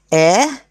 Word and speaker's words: heir: empress king queen air h is silent remember that air heiress now heir is a